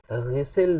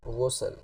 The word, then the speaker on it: غسل: کرتا ہے۔ تو اب غسل زیر کے ساتھ تو اس کا معنی ہی اور بن جائے گا، اور زبر کے ساتھ بھی اس کا معنی نہانے والا نہیں بنے گا۔ تو صحیح اس کا تلفظ کیا ہے؟ غسل، غائن کی پیش کے ساتھ۔ فقہائے کرام فرماتے ہیں